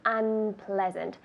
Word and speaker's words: unpleasant: It's unpleasant. Tell me in English. Unpleasant. Perfect. Unpleasant. Good. Unpleasant. So get that proper pronunciation and the good emphasis. Unpleasant. Ple has the emphasis.